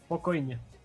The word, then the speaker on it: spokojnie: Spokojnie.